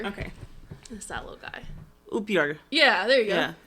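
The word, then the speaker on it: upiór: We're gonna try pronouncing together. Okay. This that little guy. Upior. Yeah, there you go. Yeah. Upior.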